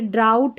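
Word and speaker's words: drought: और ये ड्राउट है, क्या है, ड्राउट, यहाँ पर भी GH नहीं पढ़ रहे।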